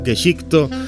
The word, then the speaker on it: Gesicht: Las evidencias y hechos remanentes de dicho conflicto están envueltos en una investigación de Geshik, o Geshikto, como se pronuncia en japonés, personaje principal de esta historia.